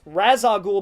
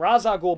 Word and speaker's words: Ra's al Ghul: By the way, it's pronounced Ra's al Ghul by Robin in the film and Ra's al Ghul by Batman.